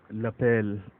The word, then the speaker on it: lapel: Then we have the word, we pronounce it as lapel, L-A-P-E-L, L-A-P-E-L. इसको लेपल नहीं बोलते बल्कि लपेल बोलते हैं.